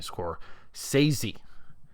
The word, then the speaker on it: Scorsese: more of a Martin sesi movie now I get it some people pronounce it as Martin score sey let's go quiet on